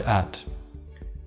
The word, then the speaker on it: at: Perhaps you noticed with the word at that I barely pronounced the T. This is something called a glottal stop.